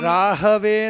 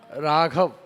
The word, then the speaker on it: राहु: प्रत्यादिव सूर्यग्रह आवाह स्थापयां Rahway नमः राहु राघव दोनों अलग है समझ रहे हो ना क्योंकि यह शब्द ऐसा इसको प्रोनाउंस करने के टाइम पे राहु के जगह पर राघव आते हैं भगवान श्री राम आते